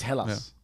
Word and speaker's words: Hellas: I think you can spell it either way. I think if you go by the Greeks, it's spelled E first, though. I think if you write it in English, it comes out with a H. So it's Hellas.